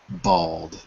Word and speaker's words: bald: say the word bald I want to hear the not the L but the lack of an L in the word bald say bald for me Raphael bald bald bald does the l sound like a vow to you it sounds like a vow to me you know the vows AE I O U yeah I think it's silent in this case Bal or but for